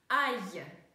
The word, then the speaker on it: aille: Aille. Видим, что сочетание ILL всегда читается как е.